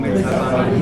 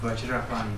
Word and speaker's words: Vajrapani: So normally in the text we read Om Vajrapani Humpe, right? But the Tibetans pronounce it as Om Benza.